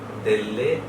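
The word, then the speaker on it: delle: গির্জার নাম হচ্ছে সান্তা মারিয়া দেল্লে গ্রাজিয়ে। এবং আপনারা যদি একটু খেয়াল করেন, এখানে দুটো এল আছে দেল্লে শব্দের মধ্যে, এবং দুটো এলের দুটোকেই উচ্চারণ করতে হবে।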